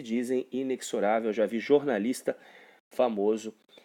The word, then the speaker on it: inexorável: A pronunciação correta do termo é essa, inexorável.